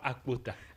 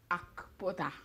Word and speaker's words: Akpota: C'est Chioma Akpota. Akpota. Oui. Tu avales le cas. Akpota. Pas Akpota. Akpota.